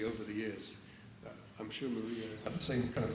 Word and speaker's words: Maria: It's Maria. Maria. Maria. Like in Spanish, yeah.